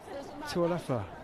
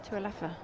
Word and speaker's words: Tualafa: That is how you pronounce it, because I asked Mike Panaho, the coach, yesterday. In fact, asked Haley herself It was It's very